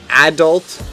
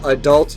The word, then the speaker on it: adult: as to say what whether you choose a pronounced like adult or adult you are correct just as you'd be